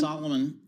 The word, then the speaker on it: Salomon: beat estimates, and that's helped by demand for Salomon shoes. So, I ended up Did I mispronounce that one? Salomon.